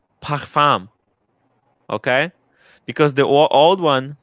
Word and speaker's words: Parfums: Tim, thoughts on Parfums de Marly. Is that how you pronounce it, Marco?